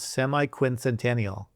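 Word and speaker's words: semiquincentennial: Now, as you probably know, Dad, the way that you pronounce the 250th anniversary is semi-quincentennial. Semi-quincentennial.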